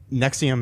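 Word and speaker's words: NXIVM: okay the the um Nexium is NX I VM is how it's spelled it is a uh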